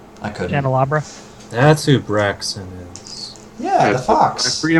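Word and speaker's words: Braixen: Like, it's Brixton? yeah, Brixton. Scott, how do you say it? You're the Pokemon master. Braxton.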